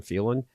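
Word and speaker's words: Phelan: the speaker at the time was a Doug felin that's how you say his name feeling yeah Dave feeling right not really feeling feeling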